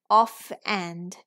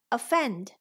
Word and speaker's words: offend: word right the next word is off and off and off and or offend offend offend sounds right so this o is schwa I Tam I Tam